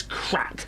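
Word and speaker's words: craic: No, it's a different crack that's spelled um C R. Do you want to put Do you want to write this down? Yeah. You guys, there's a pen. C C R R. I'm spelling it to you. So, I do the letters first, then you A. Yeah. Write it. I am. I Yeah. C. So, it's spelled. Craig, but it's crack.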